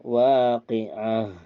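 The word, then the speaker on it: الواقعة: Nah itu waqatil Waqiah jika dibacanya diwakafkan maka Waqiah di situ ada ta ta marbut namanya jadi kalau berhenti dia bacanya Ke ha waqtil Waqiah Waqiah nah Tetapi kalau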